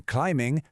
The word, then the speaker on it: climbing: Es una imagen un poco rara, lo sé, pero precisamente por eso funciona también para recordar que en climbing, thumb esa b final ni se oye.